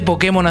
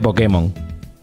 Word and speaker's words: Pokémon: no me lo creo por qué dice Pokémon acentuando en la e porque se dice Pokémon no Pokémon o qué pasa que latam